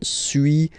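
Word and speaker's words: suis: So first one sui as you've been noticing you don't pronounce the final s okay and for then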